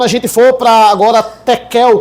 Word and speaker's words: tequel: Aí quando a gente for para agora tequel, que também se pronuncia no no aramaico chequel, é a basicamente a sexagésima parte de uma mina.